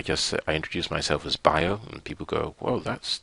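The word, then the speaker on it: Bayo: crowd is I just I introduced myself as bio and people go well that's different well if that's what you think it's it's b a Yo and they go beo and I say no it's pronounced bi IO and that's how I enter the conver the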